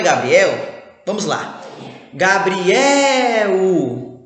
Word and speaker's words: Gabriel: Gabriel. Opa, Gabriel também é uma paroxítona. Afinal, a tonicidade dele está na penúltima sílaba.